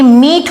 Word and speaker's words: mete: ये हमको अगर मैं ये लिख रही हूं METE तो ये मीट हो जाएगा, ठीक है।